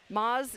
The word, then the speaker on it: Moz: away from it but Moz is pronounced mo mo oh like put an